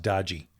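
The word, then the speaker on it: DOGE: And I'm the only one who pronounces it correctly. It's pronounced Dodgy.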